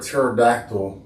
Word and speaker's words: pterodactyl: So, why can't you um hear a pterodactyl go to the restroom? Why? They not around. They never They never existed. Cuz the P is silent.